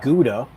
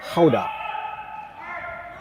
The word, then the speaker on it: Gouda: Another Dutch word I think we're all familiar with, the cheese Gouda. That's the kind of anglicized way of saying it. But apparently in Dutch it's Gouda.